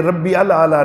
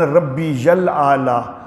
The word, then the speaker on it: ربی الاعلیٰ: الاعلیٰ یہ یا ہے، ربی کے بعد یا ہے، تو اس کو یا کی بجائے حمزہ کا تلفظ کر دیتے ہیں، یوں بولتے ہیں سبحان ربی الاعلیٰ، ربی الاعلیٰ۔ یہ ربی الاعلیٰ نہیں ہے، سبحان ربی الاعلیٰ، تو یہ تلفظ جو ہے وہ صحیح ہونا چاہیے۔ اور رکوع میں تو